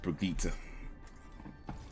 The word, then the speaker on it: Brigitte: That's how it's pronounced, Brigitte.